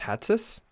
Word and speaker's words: Hatsis: How do you say your last name, Hatsis? Yeah. Like a hat on your head, you call your sister Sis.